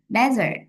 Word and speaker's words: desert: một cái là dessert, desert, desert, dessert, dessert, dessert là món tráng miệng hả? Desert trọng âm đầu là sa mạc ha, hình như vậy.